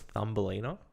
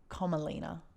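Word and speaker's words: Komalina: You say her name was Thumbelina? Comalina, like a Komodo dragon.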